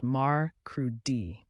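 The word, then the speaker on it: mercredi: forward in the week Wednesday is Meri pronounced Mar crudi it's the middle of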